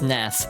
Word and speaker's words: SNES: SNES is pronounced SNES. One word rhymes with bless.